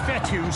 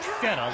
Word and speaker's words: Fetu: So Coach Fetu, spelled F-E-T-U, for the longest time I was pronouncing it Coach Feta, like feta cheese.